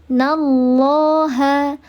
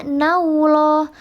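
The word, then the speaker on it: الله: Dia nallah, bukan juga nauloh, bukan nauloh. Nah, itu biasanya sering dengar tuh masih ada yang bacanya innauloha, padahal harusnya diangkat pangkal lidahnya.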